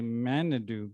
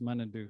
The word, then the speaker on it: Manidoo: it's ebay it looks like you might say manidu but it's properly pronounced monado so i could use your help in making